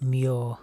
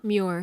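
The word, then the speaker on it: Muir: I how would you pronounce the surname that is spelled m u iir are. Oh, right. Mure. Mure.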